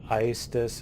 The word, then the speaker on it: Aestus: Now the planet is named Aestus, I know other people pronounce it differently. It's a Latin word that means fire, heat, and so on. That's how it's pronounced in Latin, so I'm a dork and pronounce it that way.